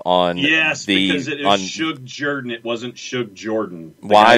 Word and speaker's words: Jordan: you're included um the name is spelled j-o-r-d-a-n everybody else who has that name that i have ever heard calls it jordan so if people call